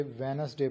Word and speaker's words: Wednesday: यहाँ पे डी जो है वो साइलेंट हो जाता है तो इसे वेनसडे पढ़ते हैं।